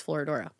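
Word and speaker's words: Florodora: Um I always feel like I'm saying it wrong but I did Google it and it's Florora. Oh, look at that.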